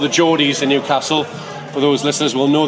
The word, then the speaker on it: Newcastle: So you say Newcastle, which is, it's an ass, like the Americans say. But most of the Southerners who would ever refer to our city from this particular country would call it Newcastle. And they would put an arse rather than an ass in it.